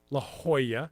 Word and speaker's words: La Jolla: We have silent J's here in San Diego. El Cajon, La Jolla. Well, they're pronounced as H.